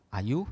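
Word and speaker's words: āyu: Nah, ayu dibaca ayu karena a-nya panjang, ayu.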